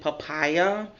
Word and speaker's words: Papaya: from a store called I think you pronounce it papaya um pa pa y a so basically this was